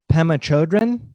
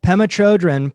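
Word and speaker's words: Pema Chödrön: out with this name excuse me is it Pema Chodron perfect yes I hear her name pronounced all different ways so whatever you say is perfect okay good so Pema Chodron puts it this way compassion is not a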